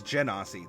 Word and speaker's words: genasi: Is it genasi or genasi? I think it's genasi, like genie, ja. I think it's genasi. But I've heard people pronounce it differently.